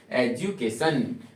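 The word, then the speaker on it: education: example के तौर पे एजुकेशन यहां पे डू नहीं ज सॉरी इसको आपको क्या पढ़ना होगा जू डी यू जब भी आएगा तो इसको ज पढ़ना है क्या पढ़ना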